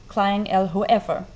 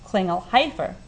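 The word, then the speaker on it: Klingelhöfer: Ich dachte, war Klingelhofer. Sagt Klingelhofer, aber es ist ein Umlaut, nicht wahr? Nicht E.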